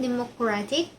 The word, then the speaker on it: democratic: Number one, democratic. The addition of each moves the stress from the best Democrat first syllable to democratic third syllable.